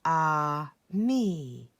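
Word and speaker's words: ami: say friend in french the word is ah me my mom says you say it like this ah me i love french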